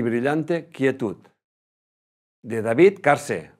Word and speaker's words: Carse: De David Carse. Va, he dicho en inglés. David Carse.